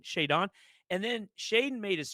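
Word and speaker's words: Shaedon: He called him Shaddon Sharp. Like, what are we doing? Shayon.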